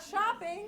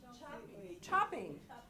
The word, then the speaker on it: chopping: Oh, and it's not shopping, it's chopping.